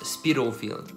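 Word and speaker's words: Spitalfields: Et en fait, ça se prononce Spitalfield.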